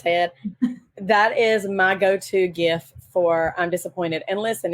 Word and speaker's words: GIF: it's GIF and um the Creator says GIF but the creator also named it with the first word the G stands for graphic so like why would that be a soft G instead of a hard G if it's graphic it's